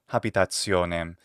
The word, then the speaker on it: habitationem: Habitationem. Istam. She also says habitationem instead of habitationem. That is, she pronounces an initial H.